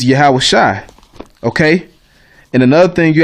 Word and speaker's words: Yahawashi: Tanakh, it might say Yahawah Shawai, Yahawah Shawai. That's wrong too. That's the wrong pronunciation. Okay, you would take this Y out, and actually it's just Yahawashi.